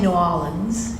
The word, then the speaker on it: New Orleans: You keep saying New Orleans, and we were joking about that earlier.